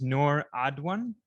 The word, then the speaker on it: Noor Adwan: Her name is Noor Adwan. Did I pronounce that right?